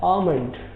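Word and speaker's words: almond: सही तलफ़्फ़ुज़ नहीं है, इसको पढ़ा जाता है आमंड।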